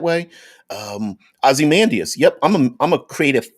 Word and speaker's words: Ozymandias: the watchmen series uh ozymandias or ozzie mendez if you want to pronounce it that way um ozymandias yup i'm i'm a